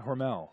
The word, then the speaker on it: Hormel: Did I pronounce that right? Yeah, Hormel.